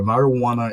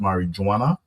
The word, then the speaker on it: marijuana: It's not pronounced marijuana. It's marijuana, right? So the the J is is a soft J. It's not pronounced it's almost pronounced almost like a H.